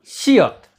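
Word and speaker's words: 시옷: और ये जब शब्द के अंत में आता है तो इसका उच्चारण होता है त, त।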